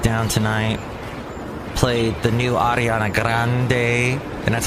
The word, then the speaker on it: Ariana Grande: Played the new Ariana Grande, and that's how you say it, Ariana Grande.